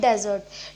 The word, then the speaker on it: desert: हैं हम डिज़र्ट, नॉट डेजर्ट. डेजर्ट होता है लेकिन वो होता है, वो उसकी स्पेलिंग होती है DESERT. डेजर्ट वो होता है एक रेगिस्तान, उसको बोलते हैं हम डेजर्ट, इसको बोलते हैं हम डिज़र्ट.